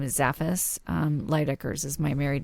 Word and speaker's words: Leydekkers: It's Leydekkers. Leydekkers. It's fine. Right. Somebody either mispronounces the front or the back. It's either or Leydekkers. Yeah. Leydekkers. That's it's Dutch.